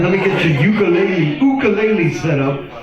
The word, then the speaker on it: ukulele: All right, let me get your ukulele set up. Ukulele, which is the correct Hawaiian pronunciation.